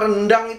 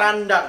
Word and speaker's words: randang: Dan sebelumnya juga berbeda, rupanya rendang tidak ada. Tidak ada rendang. Ada randang. Ada randang.